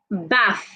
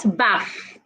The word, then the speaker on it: bath: basic it's basic Baff put your tongue outside this way when you want to pronounce the th Baff not Baff I need to take a bath b a t h